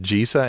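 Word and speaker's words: Gisa: pronounce that is it jesa and Geral or Giza and Geral I would go for the latter believe it Giza and Geral so it's the soft and hard G and respectively so the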